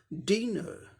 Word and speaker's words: dinner: अब नेक्स्ट देखें, DINNER, इसका उच्चारण क्या होगा, डी का डॉ साउंड आएगा, आई का ई शॉर्ट क्विक ई, एन के लिए नो साउंड, ई के लिए अ साउंड, आर साइलेंट होगा ब्रिटिश इंग्लिश प्रोनाउंसिएशन में। ये नाउन है, 2 सिलेबल, डी न 2 सिलेबल है, पहले सिलेबल पर स्ट्रेस है, पहले सिलेबल को जोर दे के बोलना है, डिनर, डिनर, ये ब्रिटिश इंग्लिश में हो गया।